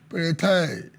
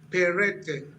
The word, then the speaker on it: Peretai: Joining us live is Peretai, PDP Publicity Secretary, Ondo State. Honorable Peretai, good to have you guesting on Plus Politics. Thank you so much. Good evening. But the name is pronounced Perete.